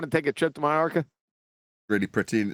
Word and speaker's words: Majorca: We called it Majorca. Am I pronouncing it wrong? Majorca. Yeah. It's Anyway. not Majorca.